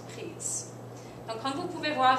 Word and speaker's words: prise: Donc, on met un E. Je l'ai prise. Ça se prononce prise.